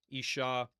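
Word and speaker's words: אשה: But that ah at the end, it's really just the con or the vowel ah.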